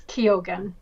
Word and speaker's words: Keoghan: I think it's Keoghan.